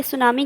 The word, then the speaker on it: tsunami: अब आप कहेंगे बच्चों कि इसका जो फर्स्ट लेटर है वो तो टी है, तो ये इसे सुनामी क्यों कहते हैं? क्योंकि सुनामी में जो फर्स्ट लेटर टी है वो साइलेंट होता है, ठीक है।